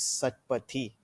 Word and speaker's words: Satpathy: You pronounce it Satpathy. The correct pronunciation is Satpathy. So it comes from like Satapatha Brahmana. Like that's where it comes from. So Satpathy.